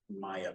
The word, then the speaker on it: Maija: Kristen Maya Peterson, Maya is spelled Maija.